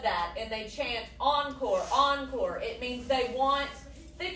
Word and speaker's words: encore: Encore. It means they want the cast, the pop star, the musicians, whoever to give them more. So, a good way to remember encore is it rhymes with more.